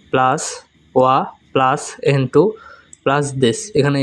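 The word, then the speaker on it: は: 1 নম্বর rules, noun 1 plus ওয়া plus N2 plus this. এখানে N2 মানে নাউন 2। এখানে লক্ষণীয় এটা ওয়া। আমরা অনেকে জানি এটা হা, তবে হা যখন পার্টিকেল হিসেবে বসে তখন তার উচ্চারণ হয় ওয়া।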